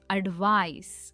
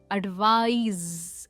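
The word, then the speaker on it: advise: पहले वाले एडवाइस की प्रोनाउंसिएशन है एडवाइस, हम इसमें S यूज करते हैं। और जो सेकंड वाला है उसमें आता है Z sound, एडवाइज एंड नॉट एडवाइस।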